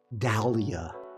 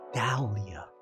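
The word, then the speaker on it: Dahlia: It rhymes with dandelion almost. Dalia. Dalia.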